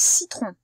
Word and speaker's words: citron: Citron, c'est bien dans la première syllabe qu'on entend S. Si, c'est ici, là. C'est pas dans tron. Et S, c'est la lettre C, encore une fois, qui va nous la faire.